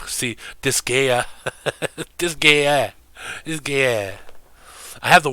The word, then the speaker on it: Disgaea: This guy, you pronounced it correctly. See, Disgaea.